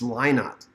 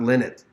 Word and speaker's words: Lynott: uh Phil and it's I guess it's line art not limit uh because his daughters had said that's how you say it I didn't realize that